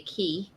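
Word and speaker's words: Cay: When you're at Coco, as Bill would say, Key, because that's the right way to pronounce it.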